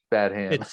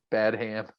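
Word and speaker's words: Badham: to always correct people bad hands it's actually bad ham pronounced like batman but bad hand i'm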